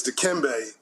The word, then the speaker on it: Dikembe: You mispronounced his middle name. It's Dikembe, love his family and community, Mutombo.